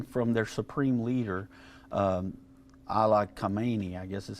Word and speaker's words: Khamenei: Yeah, so this is coming from their supreme leader, Ala Khamenei, I guess is how you say his name.